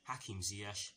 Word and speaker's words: Ziyech: concerning the Chelsea first team, and it concerns Hakim Ziyech, yes that is how you pronounce his name, Ben Chilwell, Thiago Silva, Cesar Azpilicueta and Christian Pulisic.